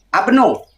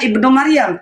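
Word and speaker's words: ابن: Tapi Abang Majid tadi ibnu sebenarnya Abno, Bang. Abnu seperti Abnu Maryam. Tapi orang membacanya Ibnu Maryam. Tapi sebenarnya di dalam Al-Qur'an, di dalam Al-Qur'an itu adalah abnuh.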